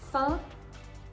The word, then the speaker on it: fin: And now for the correct pronunciations. Fin, ton, bon.